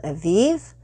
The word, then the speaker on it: Evive: a smooth with a smoothie company it's called aviv and uh that's spelled e-v-i-v-e and it is so far from